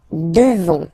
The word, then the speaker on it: devons: Nous devons. Okay? Classic ending O-N-S for nous. Okay? You just pronounce this on, O-N, this nasal. Okay? And then the S, final S is not pronounced.